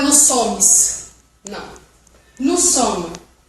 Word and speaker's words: sommes: Nous sommes. Você só pronuncia mais ou menos até o M.